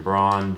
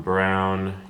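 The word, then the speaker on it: Braun: for the Nicks Christian braa Jaylen Suggs Shan Brown Kenny Martin Jr it's Christian Brown I'm a nuggets fan and I can't even say his name probably because he pronounces his name wrong jayen Williams will extend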